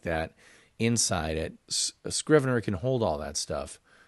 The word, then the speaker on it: Scrivener: them for shriven err Scrivener 3 and it is pronounced with a hard K or a hard C Scrivener 3 Mac OS update